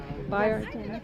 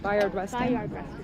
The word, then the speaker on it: Bayard Rustin: Bayard Rustin. Bayard Rustin.